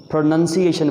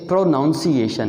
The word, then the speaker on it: pronunciation: पहला वर्ड है PRONUNCIATION। इसको हम एक ये हिस्सा, दूसरा ये हिस्सा, तीसरा ये हिस्सा और चौथा ये हिस्सा, यानी ये बनेगा प्रोनंसिएशन बनेगा। ये most of the people प्रोनाउंस इट प्रोनाउंसिएशन, वो गलत है।